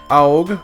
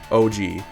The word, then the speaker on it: Aug: Today we have the Aug, or if you're Japanese, you'd probably pronounce that OG. Whichever one works, it seems like it's kind of interchangeable, but yeah, so this kit is actually recent.